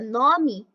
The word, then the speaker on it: nome: Já na palavra nome e cresce, o E passa a ter som de I.